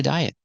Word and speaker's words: diet: he went on a diet and the T in diet it's at the end of the word after a vowel it's a stop T don't say diet don't release a te diet he went on a diet and